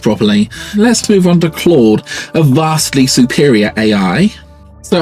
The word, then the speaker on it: Claude: and it said well my name is Claude pronounced Claude and I said yes I like car like a car clawed me and it said yes